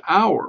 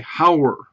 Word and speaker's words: hour: hour and hour okay because we do not pronounce the h in that word you know we say it as our we don't say howr okay we don't say